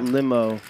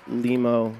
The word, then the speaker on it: Limo: and he said no it's pronounced limo I just went and checked it is limo so on behalf of